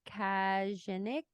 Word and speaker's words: Kajganich: The thing, I have to hand it to the writer here, David Kajanik. We're going to pretend that's how you say it. Kajganich.